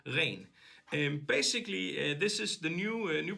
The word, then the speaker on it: Ren: No, I'm just gonna say it as it's pronounced in northern part of Europe, REN.